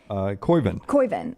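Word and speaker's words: Koivun: The Auburn, Jackson, how do you say his last name? The kid who hit the putt yesterday? Yeah, Jackson, he's Koiven.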